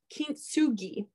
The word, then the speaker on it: kintsugi: But I don't know if you guys have heard of the Japanese art of kintsugi. And I looked up how to pronounce this so that I would say it the right way.